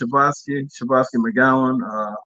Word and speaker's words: Shavaski McGowian: Yeah, it's pronounced Shavaski McGowian, owner of McGowian Insurance Pros.